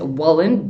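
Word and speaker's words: Wollen: Sorry, I pronounced his name wrong in the last video, but I believe it's Wallen, W-O-L-L-E-N.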